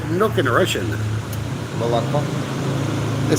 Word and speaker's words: молоко: Молоко.